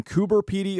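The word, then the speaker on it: Coober Pedy: Heroes was shot in kuber py Australia I double checked with an actual Australian so if you complain that I'm saying it wrong you're wrong anyway kuber py is known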